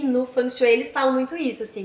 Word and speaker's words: Feng Shui: Porque no Feng Shui, ou Feng Shui, como a gente fala, que a pronúncia correta eu aprendi que é Feng Shui. Sim. Feng Shui.